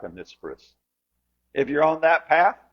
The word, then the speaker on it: Onesiphorus: I looked up how to pronounce it. It was supposed to be emphasis on knee. Oh, Neiferus.